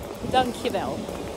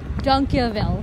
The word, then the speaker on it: dankjewel: The second one that should be good is dankjewel. Okay. Oh. Which means thank you. Oh, you have to say it one more time so I can pronounce it. Dank. Dank. Yeah. Yeah. Wel. Dankjewel.